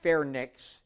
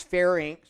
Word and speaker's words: pharynx: back of the throat not pronounced fair Nicks its pharynx that rhymes with Lynx larynx also that's your